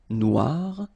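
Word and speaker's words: noire: the end of noir for the feminine form but then you don't pronounce it. Okay. So phonetically it is exactly the same noir.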